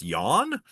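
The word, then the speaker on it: Jahn: Similarly, at the Princeton Engineering Anomalies Research Lab, or PAIR for short, some researchers led by Robert Yawn, I think that's pronounced Yawn, collected lots of data from lots and lots of different experiments using quantum mechanical random number generators.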